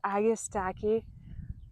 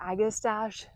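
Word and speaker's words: Agastache: We'll have the herb garden right up against the chicken coupe, which oh my goodness, this agastaki or agistache. I I've heard it pronounced both ways.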